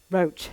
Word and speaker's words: Roche: used at um roche raw how do you pronounce it roach yeah it was right first time and then